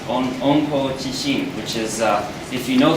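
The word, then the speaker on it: 温故知新: In Japanese, it's pronounced onko chishin, which is if you know the past, you will know the future.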